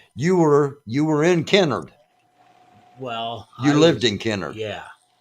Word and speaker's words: Kennard: tornado swept through Kennard Kennard often pronounced Canard yeah for those that don't know not in the know but it was actually Kennard uh and and the